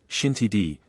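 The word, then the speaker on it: Xintiandi: your first night out zinty Andy pronounced shinti d an area known for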